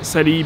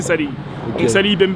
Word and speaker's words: Salehe: avait un qui s'appelle sali benberi je prononce bien j'espère mais apparemment c'est Sally on va dire que c'est Salé en fait qui a